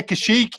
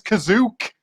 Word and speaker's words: Kashyyyk: But he doesn't say Kashyyyk. He says Kazook.